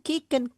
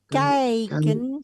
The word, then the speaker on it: kijken: Sommige, Sommige mensen sommige mensen kijken naar het kijken, bukan kieken, kijken. kijken naar het voorwerp. Betul, oh, terus Anderen blijven binnen. Stop. I sama Y dibacanya I.